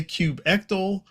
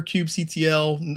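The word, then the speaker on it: kubectl: The when I listen to the audio book, they say cube ectal. Do that. But for me, yeah, I I hear cubectl.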